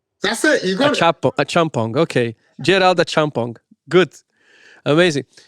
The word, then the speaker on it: Acheampong: So my surname is Acheampong. It's actually pronounced the way it's spelled. It's Acheampong.